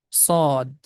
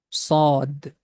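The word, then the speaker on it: ص: The name of this letter is Sod. Also, we can write the pronunciation of this letter, Sod. We have to make the straight sound.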